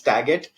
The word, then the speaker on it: Tagat: that's been happening but yeah it's the correct pronunciation is taget uh it's slightly angular sized uh for whatever